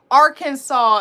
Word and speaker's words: Arkansas: try to be wait say it like R Arkansas it looks like it sound it looks like it's pronounced like that oh that's what it's